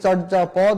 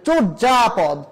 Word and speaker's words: চর্যাপদ: অতীতে ছিল সেই জন্য এটাকে এটাকে চর্যাপদ উচ্চারণ করলে হবে না এটাকে আমরা আমাদের উচ্চারণ করতে হবে চর্যাপদ চর্যা আশ্চর্য ঐশ্বর্য সৌন্দর্য